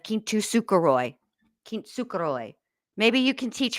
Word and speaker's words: kintsukuroi: Uh because I always say it wrong because she says it wrong. Kintukuroy instead of Kintukoy.